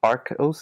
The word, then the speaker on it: Arcos: like a prequel yeah so a secret of Arcos is it art Costa said how you say